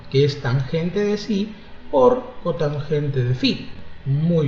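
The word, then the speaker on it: psi: Sí es ángulo agudo en este triángulo rectángulo. Ubícate en el triángulo de vértices A, B, C. Acá tenemos ese ángulo que se pronuncia así, sí, que se parece a una Y, algo así, ¿no?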